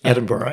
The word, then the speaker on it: Edinburgh: you live in Edinburgh I say that correctly Edinburgh yeah yeah I say it correctly right and